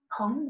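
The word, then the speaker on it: Peng: In Tai Chi, we're always creating what's called a Pong structure. Pong, that's spelled P-E-N-G.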